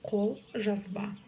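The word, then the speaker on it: қолжазба: И ударение ставится на последний слог.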